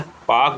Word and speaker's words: Palk: तो पाक जल संधि श्रीलंका से अलग करती है। आपने देखा होगा ये पाक पाकिस्तान से संबंधित नहीं है। पाक की इसमें स्पेलिंग होती है PALK, ठीक है, पाक स्ट्रेट जिसे कहते हैं।